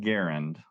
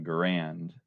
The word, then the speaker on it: Garand: It's pronounced John Garand, of course, but you either fall into the